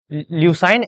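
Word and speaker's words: leucine: Okay, अब ये दोनों चीजें हैं क्या, this are amino acids, amino acids, ल्यूसाइन एंड फिनियोलैलानिन, इसको यही प्रोनाउंस करते हैं।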